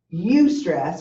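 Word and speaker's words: eustress: life you can have you stress which is spelled EU stre SS or you can have distress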